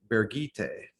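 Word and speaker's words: Birgitte: end of this book bergite that's how you pronounce her name according to the glossary which is really which is really close to the german pronunciation of bridgette um which is interesting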